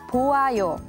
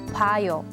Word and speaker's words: 봐요: So in this case, it's not 보아요, but the correct way to say it is 봐요.